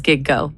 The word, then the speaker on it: Gigo: Is there a color that G O like GO like gig and go. It's two syllables. It literally says giggo.